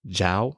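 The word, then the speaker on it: Zhou: back more than 3 000 years to the zhao dynasty and that's spelled z-h-o-u if you are really a history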